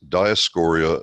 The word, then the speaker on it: Dioscorea: the first thing you see on it is Dyess Coria bullosa and that's the correct pronunciation by the way it's taken from dioscorea